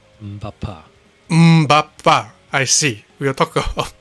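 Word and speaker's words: Mbappé: Mampa. Bapa. You don't pronounce the M? Mbappa.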